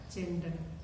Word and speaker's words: gender: Tulisannya gender, bacanya gender.